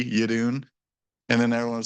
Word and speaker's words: Jeroen: e r o en the J is pronounced as a y and the r rolls so it's Yun J Yun a lot of people say or you know because